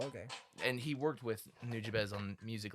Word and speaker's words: Nujabes: Because he's the one that did New Jabas. that's not no. That's what Google says. Well, Google's dumb. This guy worked with him. American pronunciation is New Jabas.